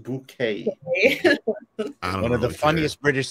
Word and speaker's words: Bucket: Kind of like people whose name is Bucket would like it pronounced bouquet.